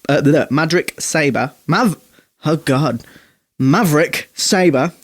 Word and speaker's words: Sabre: is all good they had people like maverick saver the Maverick Sabre mother hug God Maverick Sabre thank you spell it out use your words that de kook's